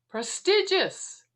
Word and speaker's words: prestigious: It is prestigious.